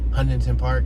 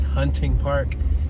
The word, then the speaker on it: Hunting Park: That's one of those streets where people pronounce it different. They say Westminster, but it's not really Westminster. Like how people say Huntington Park, but it's not Huntington Park. It's Hunting Park, and it's not Westminster.